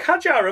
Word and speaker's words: Hadjar: Anyway, we're talking about Isaac Hadjar.